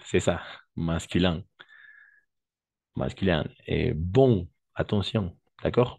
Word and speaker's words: bon: Et bon, attention. D'accord? On va prononcer bon. Bon.